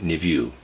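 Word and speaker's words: niveau: most perfect most beautiful the word I'm pronouncing or trying to pronounce there is n i v e a u I'm pronouncing it nevue concerning the word nouveau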